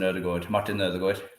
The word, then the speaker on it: Ødegaard: I'm incredibly proud of having Martin Ødegaard in Norwegian in the team. You pronounced it correctly.